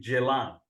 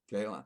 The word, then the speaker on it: Ceylan: I think the pronunciation of it should be Ceylan. Ceylan. In Turkish, Yeah. they're not Şey. If you see in the film also, when the lady coming, they said Jalame or something. Yeah. Starts with C.